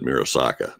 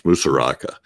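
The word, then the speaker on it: Musuraca: something i said it i mispronounced his name nicholas nicholas is musaraka i think i said mirosaka it's musaraka anyway he's he's an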